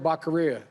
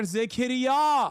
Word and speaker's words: Becerra: He said Javier Zequiera.